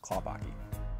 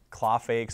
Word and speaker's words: Klaphake: say your name U my last name is spelled k l a p h a k and it's pronounced kapaki I get claw fakes a lot you get a lot of the pH being FS um some of the teachers